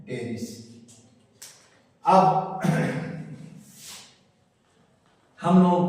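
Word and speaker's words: Pteris: में टेरिस कहते हैं लिखते हैं पटेरी पी क्या है साइलेंट है हम पढ़ते हैं टेस अब हम लोगों को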